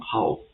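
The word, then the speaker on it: 蒿: one hao, third one hao, the fourth one hao. So for the first one, hao, the meaning of it is mugwort. So this is a plant. The second one is hao.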